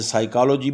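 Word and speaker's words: psychology: तो पी का लेटर जैसे साइकोलॉजी में स स्टार्ट में आया तो पी का लेटर इसका प्रनंसीएशन नहीं किया जाता डू ये जब शुरू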